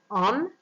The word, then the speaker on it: homme: On dit un homme, donc on ne prononce pas le H, c'est un H muet, comme on a déjà vu dans la leçon des lettres muettes.